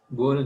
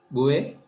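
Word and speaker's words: Bual: Third one, මේක pronounce කරන්නේ Bouet කියලා Bouet. Bowl නෙවෙයි Bouet.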